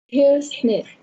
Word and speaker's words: business: Business. Okay, so you remember that this word had two syllables, but you missed the last sound. We say business.